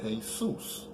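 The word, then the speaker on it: Jesús: he's still coming and we just pronounced it different we call it hey soos now I mean it's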